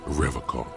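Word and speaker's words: Revachol: strong for rev call he pronounces Revol with a hard K unlike other people my mug why would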